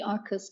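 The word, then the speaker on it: Arqus: It's actually Arcus comes from the Latin Arcus with a C, or Arcus, Q-U-U-S, meaning arch, bridge.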